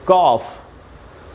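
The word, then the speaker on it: cough: ए यू ये रहा ए यू और ओ यू के बाद अगर जी एच है तो आपको अक्सर उसे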